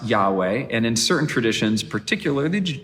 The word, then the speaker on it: Yahweh: the hebrew name of god read aloud it's pronounced yahweh and in certain traditions particularly the jewish tradition